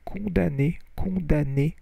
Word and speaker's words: condamnés: So accusé d'hérésie, d'idolâtrie et de sorcellerie, les Templiers furent condamnés, you don't pronounce the M, et périrent par centaines.